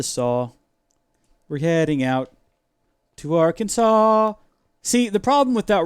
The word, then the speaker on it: Arkansas: We're heading out to Arkansas. See, the problem with that rhyme is that Arkansas, while it does rhyme with saw, It only rhymes with saw because it's literally the word Arkansas.